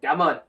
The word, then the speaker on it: cảm ơn: Okay, in Vietnamese, thank you is cảm ơn. Cảm ơn. Cảm ơn. Cảm ơn. Cảm is like with the question mark on top, like cảm and then Cảm.